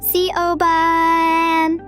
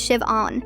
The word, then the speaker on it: Siobhan: Hildenbrand, I've asked you like a hundred times, but my name is Shiv-on. The H is completely silent.